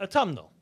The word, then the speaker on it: autumnal: As we know, we have the spring equinox, and I always mess this up in pronunciation. Autumnal. Did I say that right? Autumnal, yes.